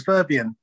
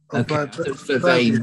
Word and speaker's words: Vervain: I thought it was verbian. Vervain, but anyway.